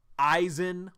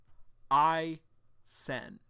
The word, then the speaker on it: Isen: They used to say, like, Eisen, like from Bleach. I've also heard Eason in the past. But I am so glad that Uru confirmed it's Isen.